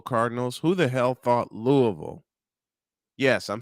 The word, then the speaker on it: Louisville: 86 the Louisville Cardinals who the hell thought Louisville yes I'm saying it right Louisville would get